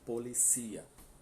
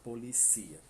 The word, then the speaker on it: policía: Em espanhol é no último. Então a gente pronuncia policia. Tem quase a mesma escrita, mas o acento faz toda a diferença, né? Português, a polícia. Em espanhol, la policía, certo?